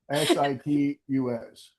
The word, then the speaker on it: situs: Sit tus. Civics. How do you spell it? Sit t- us. Titus. Yes. Some people call it suda. Some people call situs property.